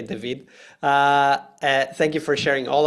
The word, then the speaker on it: David: David would be the English pronunciation, but both David and I speak Portuguese, so I'll just say David.